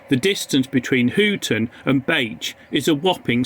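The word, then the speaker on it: Bache: pronounce a station name it is be rather than back the station in the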